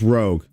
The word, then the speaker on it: ROG: It's pronounced Rogue. I know it's Rog uh shortened there, but no one pronounc it rag. is rogue rogue ally.